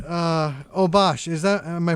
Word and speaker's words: Obash: new yorker girls excellent all right uh oh bosh is that am i pronouncing your name right yeah oh bosh okay thank you for uh calling up today